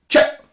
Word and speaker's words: cak: Now, so you've got to imagine it's spelled C-H-A and you say it as short as possible.